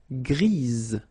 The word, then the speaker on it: grise: Gris, don't pronounce the S, but then for the feminine form, grise. Remember?